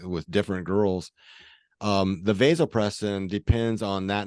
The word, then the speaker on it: vasopressin: present and very quick uh vasopressin oh I've called it vasopressum which is the monogamy hormone correct correct and people pronounce it both ways um yes vasopressin or